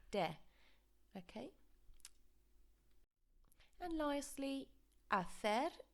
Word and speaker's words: de: I've highlighted the de here because students have a tendency to pronounce it like D. Now again, like the me we saw over here, let's pretend that there's an H after this E, so de.